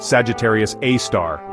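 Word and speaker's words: Sagittarius A*: At the very heart of the Milky Way, shrouded in gas and dust, lurks Sagittarius Asterisk, pronounced Sagittarius A star, a super massive black hole with a mass more than 4 million times that of our sun.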